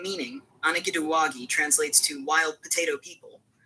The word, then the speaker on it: Anigiduwagi: Now, the Anigiduwagi, pronounced Anigiduwagi, are one of the 7 clans of the Cherokee Nation.